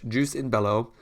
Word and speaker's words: jus in bello: what it's done or how you pronounce it so it's juice in bellow and it's basically means